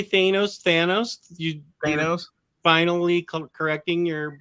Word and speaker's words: Thanos: Thanos. Finally correcting your mispronunciation.